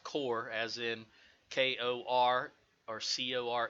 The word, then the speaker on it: corps: and it is pronounced core as in Kor our Co re it's not corpse as I hear a lot of people say it so we'll give them